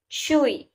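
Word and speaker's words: 吹: Chui, pronounced like chui with a forceful exhale, which is associated with the kidneys.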